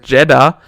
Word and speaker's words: Jedha: Honestly, I didn't realize until later that Jedha, pronounced basically the same as Jedi but spelled differently, is a planet where Cere is.